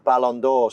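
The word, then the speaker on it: Ballon d'Or: And then how do I how do I pronounce it? Balandor. Balandor.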